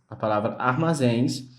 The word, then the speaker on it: armazéns: A palavra armazéns, ela tem a sua última sílaba, a sílaba mais forte da palavra. Então, por esse motivo, ela é acentuada, porque ela tem a sua última sílaba mais forte e terminada em ens, que está dentro da nossa regra, tá bom?